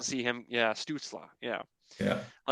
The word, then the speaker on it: Stützle: I would You rather have can Stutzel. I think that's how you pronounce his name. Tim I would like to Stützle. see him. Yeah, Stutzla.